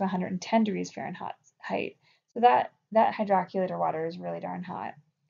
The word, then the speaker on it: hydrocollator: heat packs, like a hydroculator pack. I know that's not spelled like it sounds. It's spelled hydrocollator, but that's not how you say it. It's hydroculator.